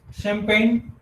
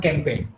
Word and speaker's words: champagne: students replied differently okay the real pronunciation is it is champagne this is the right it is not campaign the spelling of campaign